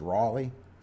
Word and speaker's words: Raleigh: it plus there's more coming on land it's pronounced Raleigh okay thanks good morning good morning good morning